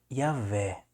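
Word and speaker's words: Javé: de Jerusalém vai trazer a palavra Yahé, né? Ouahé. Yahé. Mas o correto é Yahvé.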